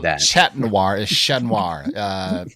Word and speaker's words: Chat Noir: Chat Noir is Chat Noir. It's basically means the black cat in French. The T's are silent when you say the black cat, because I used to have a favorite restaurant called La Chat Noir.